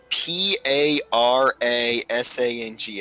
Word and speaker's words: parasang: i'm the king of that place uh p a r a s a n g s which is probably not the way i've been pronouncing it is it parasing yeah the parasang is a historical iranian unit